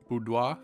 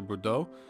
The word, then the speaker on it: Bordeaux: The government had already fled to Boudoir, I believe that's how it's pronounced, or Bordeaux, and was expecting Paris to fall.